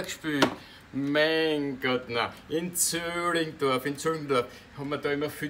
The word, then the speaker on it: Zillingdorf: In Zöllingdorf, haben wir da immer viel Theater gespielt. Zöllingdorf schreibt man mit I, sagen tut man Ü, so wie Zwiegewitz, schreibt man nämlich mit 3 T.